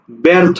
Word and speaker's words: ব্যর্থ: আমি একটা শব্দ লিখলাম ব্যর্থ লক্ষ্য করো প্রথম ব্যঞ্জনে কি আছে জ ফলা আছে তাহলে এটার উচ্চারণ তখন কি হবে এ হবে এ তাহলে ব্যর্থ থকারে থ ব্যর্থ ঠিক আছে ব্যর্থ আর